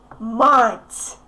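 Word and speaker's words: мать: But anyway, try to pronounce mats correctly. Just if you don't know how to get your t soft, just make your tongue wide. Okay? Make the tip of your tongue wide and t, t, t, mats, mats.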